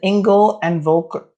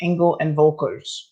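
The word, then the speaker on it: Engel & Völkers: Her name is Nikki Thomas, and she is a realtor with Engel and Volker. I think it's pronounced Engel and Volkers.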